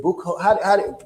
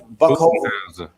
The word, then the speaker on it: Budenholzer: And a lot of times, and I can't pronounce the Milwaukee's coach. Is it Buchholz? Budenholzer.